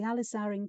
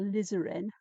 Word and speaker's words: alizarin: And then I'm going to add the alizarin crimson or lizarin, depending on how you prefer to pronounce it, as my darkest tone where the shadows lie, the darkest.